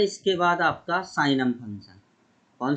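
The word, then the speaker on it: signum: साइनम function simple, साइनम function, sorry, इसको हिंदी में बोलते हैं सिग्नम। जी साइलेंट होता है, सिग्नम, और इंग्लिश में इसको बोलते हैं हम साइनम। जी यहाँ पर साइलेंट होता है, साइनम, और हिंदी में सिग्नम बोलते हैं, ठीक है ना।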